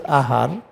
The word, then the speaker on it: āhār: When you dissect this ahar, it will be a 2 times. 2 times a means like this we write. Then har we write like this. We pronounce like this, ahar, ha.